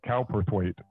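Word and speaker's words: Cowperthwaite: have imagined director gabriella calperthwaith is that how it's pronounced calperthwaith um or is it cow perth ways i say what it's cow perth weight cowperth weight and written by brad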